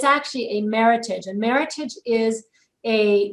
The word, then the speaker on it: Meritage: this is considered a classic meritage it's not pronounced meritage most people like to say meritage because it makes it sound fancier but it's actually a meritage and meritage is a name it's a fictitious